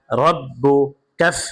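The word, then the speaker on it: رَبُّكَ: বা জবর রব্বা পেশবু রব্বু কাফ জবর কা রব্বুকা রব রব রব্বুকা রয়ের উপরে জবর অথবা পেশ থাকলে রকে পুর করে পড়তে হয় অর্থাৎ মোটা করে পড়তে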